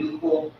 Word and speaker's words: nuchal: Here are a variety of ridges in the back of the nuchal. That's in the back of the neck, Nuchal, is the way to pronounce it.